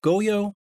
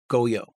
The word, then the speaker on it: Goyo: I think it's pronounced Goyo, which is a free plugin that's still in beta.